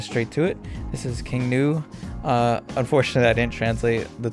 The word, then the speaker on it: King Gnu: And one of them was King New. I'm assuming the G is silent.